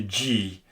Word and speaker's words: gui: So if you need the hard sound for the G, but it's followed by an I or an E, then you have to insert a U there. For instance, G, which means mistletoe, spelled gui, or G, which means